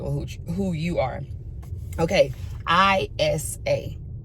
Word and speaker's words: Ayase: Because it's not spelled ISA. It's spelled AYASE. But when the little boy on the show be saying her name, it sounds like he's saying ISA.